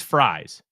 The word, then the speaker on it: Fries: too, Dave, that Will Fries, and it is Fries, friend of the show, Matt Freeze, is also spelled like fries, but it's not pronounced that way. And Will, it's pronounced like French fries.